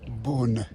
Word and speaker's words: Beaune: Although we're not pronouncing it in the true French way, which I cannot figure out how to do. Beaune. Yeah. Beaune.